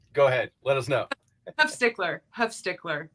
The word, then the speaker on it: Huffstickler: Huffstickler. It's okay. That's where the Schluter are born. It's easier. Pronounced the way it looks like it.